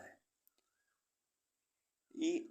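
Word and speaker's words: high: means अनुमान ऐसे words जिनमें अल्फाबेट जी एच साइलेंट रहता है ई आई जी एस टी एट एट मीस आठ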